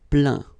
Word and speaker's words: plaint: Okay, and as usual, final T here is not pronounced, so you get craint, contraint, plaint.